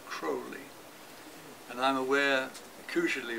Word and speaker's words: Crowley: old crow because apparently crowley's correct pronunciation is cruelly and i'm aware of